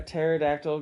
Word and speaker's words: pterodactyl: can't you hear a pterodactyl go to the bathroom uh that would be because the p is silent see I know that